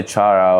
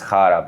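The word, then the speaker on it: Chára: slovakia chara yeah probably i would say chara or i mean it's hara but yeah um oh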